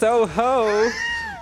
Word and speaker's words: Touhou: Actually, it's pronounced Touhou.